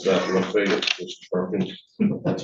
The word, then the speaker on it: Lafayette: County, of course, is Lafayette and Columbia, the Evergreen Brine Unit. How did I pronounce that, Lafayette, Mr.